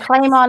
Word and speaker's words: Clamon: it's just okay and claim on is fine we you know it kind of everybody pronounces it differently so it just it